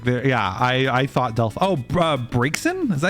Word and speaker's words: Braixen: I thought Braixen? Is that how you pronounce that?